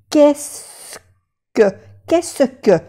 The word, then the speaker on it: Qu'est-ce que: Qu'est-ce que? Pero no se pronuncia ni la E, la S, ni la T, ni la E de aquí.